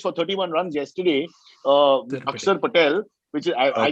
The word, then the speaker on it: Axar: Akshar Patel, which is, I Okay.